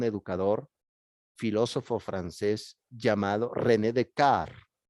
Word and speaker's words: Descartes: filósofo francés llamado rené de kart se escribe descartes pero en francés se pronuncia rené de karts de kart estudió en un colegio